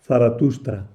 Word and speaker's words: Zaratustra: Sin embargo, el nombre que parece más propio, más ajustado a la pronunciación persa era Zaratustra.